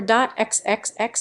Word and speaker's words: .xxx: apps texts pronounce dot triple X or dot XXX is a sponsored top